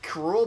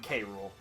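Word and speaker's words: K. Rool: crop close King Kuru King krule officially it's pronounced Kuru but most people just call him krule okay he's Donkey Kong's archenemy in the Donkey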